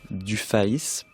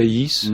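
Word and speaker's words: Dufaÿs: Baudelaire et Caroline Archambault Dufayis. C'est comme ça qu'il faut le prononcer. Dufayis, oui.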